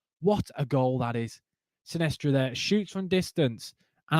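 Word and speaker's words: Sinisterra: I keep saying Silvestre. I need to stop saying Silvestre. Sinestra. I don't know how you say it, has scored.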